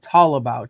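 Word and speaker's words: Tolibao: this is the harvey i believe it's pronounced talabao t-o-l-i-b-a-o uh talibao um cover uh which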